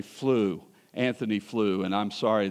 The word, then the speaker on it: Flew: were talking about was I said free and his name is really flew Anthony flew and I'm